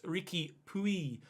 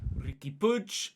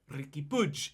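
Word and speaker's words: Riqui Puig: in the comment section who said that it's ricky puy not ricky pudge but it is ricky push if i go to the pronunciation website forvo f-o-r-v-o which is the site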